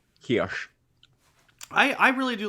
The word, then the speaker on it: Heche: Heche, how do we say her name? Heche.